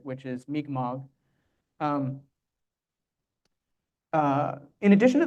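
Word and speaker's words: Mi'kmaq: many people pronounce it mcmack uh and the mmog nation has actually asked that you pronounce it the way the language pronounces it which is mmog um uh in addition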